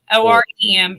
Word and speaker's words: Orem: do not say your name correctly it's auram o-r-e-m pretty easy orem okay all right i don't